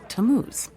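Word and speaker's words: Tammuz: where do I find him his name is tamuz to what t a m m u z it's pronounced tamuz maybe if you show him your evidence he'll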